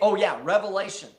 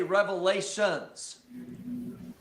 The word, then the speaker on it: Revelation: you said, people automatically, they say it wrong, and they'll say, instead of, how did you say? Revelation. They'll say revelations. And I'm saying that is definitely completely wrong.